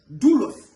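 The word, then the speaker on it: δοῦλος: Of course, self is coming from a big word dulos. You see it is spelled d o u l o. But if if I pronounce d o o, you understand? L O S.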